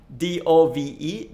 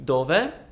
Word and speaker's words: dove: You just heard it, but the first one, D-O-V-E, dove, like that.